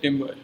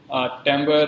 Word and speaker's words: timbre: Then another perceptual quality of sound is timbre. So people pronounce it in different ways, timbre, or I call it as timbre.